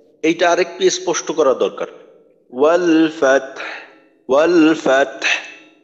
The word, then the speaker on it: والفتح: ওয়াল ফাতহ, ওয়াল ফাতহ। আচ্ছা বাতাসের সাথে হা উচ্চারণের সময় বাতাস বের হয়, ওই বাতাসের সাথে একটু আওয়াজ থাকবে।